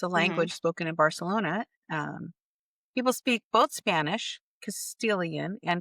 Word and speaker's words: Barcelona: The C sound in many parts of Spain, the letter C before an E or an I, and the letter Z are pronounced with a TH. So when you hear someone say Barcelona, they're not lisping. It's actually how they pronounce it.